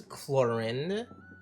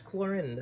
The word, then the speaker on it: Clorinde: But yeah, that's Clorinde or Cloron. I think she's pronounced Clorinde.